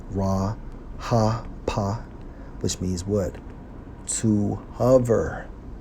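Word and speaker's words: רחף: Strong's H 7363, pronounced as Ra Ha Pa, which means what?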